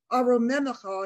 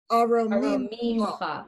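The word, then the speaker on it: ארוממך: When people sing it, sometimes things get drawn out and So I've always heard it aromemcha, and you're saying it aromimcha. Yep. One less syllable.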